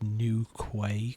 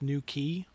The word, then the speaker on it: New Quay: I'm I'm going to read that out as new quay cuz it'll annoy people. How How's it going in New Quay? For those who actually don't know, it's pronounced new key, right?